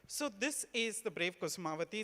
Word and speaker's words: Kusumavati: It's called the Brave Kusumavati. Am I pronouncing it correctly?